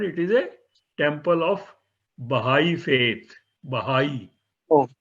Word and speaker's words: Baha'i: this lotus temple is less of an historical importance rather than it is a temple of Baha'i faith.